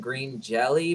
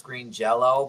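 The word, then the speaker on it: Green Jellÿ: Everybody pronounces the name Green Jelly, but apparently the band's real name was Green Jello, but they weren't allowed to say Jello, so it's spelled Jelly.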